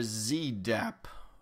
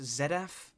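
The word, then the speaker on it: Zedaph: there on the end Mr Z dap what unique skills would you say you have um it's pronounced zeddf actually um and for starters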